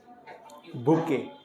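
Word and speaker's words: bouquet: है बी ओ यू क्यू यू ई टी बुके बुके किसी को उपहार में फूल वगैरह का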